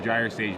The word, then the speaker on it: Gyre Sage: Is it Gyre Sage or Gyre Sage? It is Gyre Sage, a soft G.